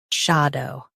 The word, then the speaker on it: shadow: Emphasize sha and keep dow light.